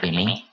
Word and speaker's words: aimez: Aimé, berkata dasar aimé. Ini karena berubah dari vous menjadi aimez, bacanya aimé.